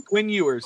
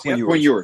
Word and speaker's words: Ewers: Quinn Ewers. Quinn Ewers.